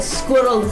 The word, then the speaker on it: squirrel: now some suggest that squirrels like that but squirrel is intended to be pronounced as two syllables yeah so anyway according